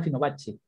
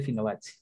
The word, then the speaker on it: Fibonacci: La verdad que es italiano, pero creo que se pronuncia Fibonacci.